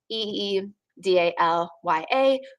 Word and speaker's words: Idalia: Idalia, that is the next name on the list, the pronunciation Idalia. So Eedalya.